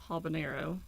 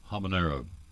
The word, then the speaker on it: habanero: fill them up so we have the apricot habanero habanero I didn't know how to say that so